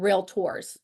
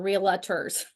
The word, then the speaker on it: Realtor: to say it here it's called real tours it's not reals so make sure you're doing you're saying it correctly when you're out there